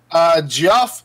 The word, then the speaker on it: Geoff: Former DC film heads John Burge and Geoff Jones have been shifted. That's how it's spelled. Geoff. It's Jeff Jones.